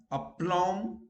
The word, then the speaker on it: aplomb: Where B is silent, bomb, aplomb, you don't say bomb. Okay, you say bomb. Okay, aplomb.